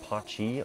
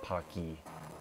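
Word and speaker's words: Pacci: Yeah, there was 2 ways of actually pronouncing this. It's Cane of Pachi or Cane of Paki. But I'll just call it Cane of Pachi because it actually sounds a little bit better.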